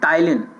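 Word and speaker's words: ptyalin: और इस एमाइलेज का एक और नेम भी होता है जिसको बोलते हैं टाइलिन, स्पेलिंग पी से स्टार्ट होती है, ठीक है, पी इसमें साइलेंट रहती है।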